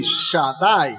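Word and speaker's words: שדי: Estas tres letras, hermanos, Shaddai, son tres letras, pero se pronuncia así, Shaddai.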